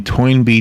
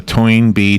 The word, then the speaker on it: Toynbee: R Us as in toy toin and then an N B like a bumblebe it's all one word t o y n be e e cool toin B was Arnold toin be okay Arnold toy was